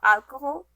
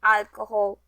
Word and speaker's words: alcohol: best guess guess what what consonant is always silenced in spanish here is a hint